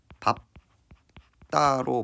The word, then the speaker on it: 밟다: 밟다가 밥다가 아니라 어떻게 발음됩니까? 밥다로 발음이 된다라는 걸 확인을 할 수가 있어요.